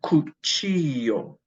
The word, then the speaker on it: cuchillo: Cuchara is a tablespoon, and cuchillo is a knife. Remember the double L is like a Y.